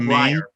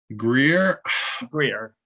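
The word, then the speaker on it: Grier: What about Breyer? Greer. Sorry, I mispronounced his name.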